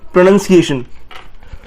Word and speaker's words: pronunciation: So pronounce नहीं बोलना हमें, यहाँ पे pronunciation बोलना है, and इसकी pronunciation है PRUH hyphen NUHN hyphen SEE hyphen AY hyphen SHUN. So it's pronunciation.